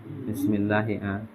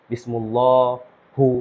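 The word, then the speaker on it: بِسْمِ اللهِ: Dia pasti baca kasroh. Enggak mungkin baca bismillahi, bismillahu, bismillaha atau bilangnya busmi, enggak mungkin. Nah, bismillah. Sekarang kalau bismillahi dia sebagai apa?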